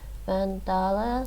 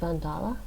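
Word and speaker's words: Van Dale: i often go to vandala punta now and yes english speakers would probably say vandal but it's pronounced vandala and just using this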